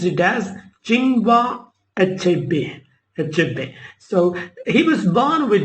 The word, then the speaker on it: Chinua Achebe: Chinua Achebe, pronounced it as Chinua Achebe.